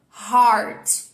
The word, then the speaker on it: hard: para perceber a diferença Então olha abertura da minha boca aqui hard hards e aqui embaixo bem fechadinho né então pronúncias diferentes